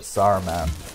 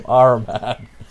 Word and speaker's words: Saruman: And in the old Lord of Rings movie from the 70s, they actually pronounce his name Araman. Yeah, got the gold! Get the gold. Yes, they pronounce it Araman because they think people would get confused between Sauron and Saruman.